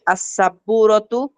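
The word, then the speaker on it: السبورة: অসিয়াতুন মানে আচ্ছা, দেখেন আস-সাব্বুরাতু, এখানে আবার হুরুফে শামসিয়া, এই জন্য আমি লামটাকে পড়তে পারছি না। এই জন্য আমাকে বলতে হচ্ছে আস-সাব্বুরাতু।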